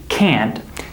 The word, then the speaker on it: can't: However, this word right here, can't, is stressed.